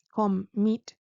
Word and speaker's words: commit: Es decir, commit tiene dos sílabas, commit, y la segunda tiene el estrés.